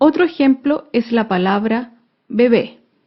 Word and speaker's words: bebé: ejemplo es la palabra bebé bebé es una palabra aguda se acentúa en la última sílaba y lleva tilde porque termina en vocal bebé acá vemos otro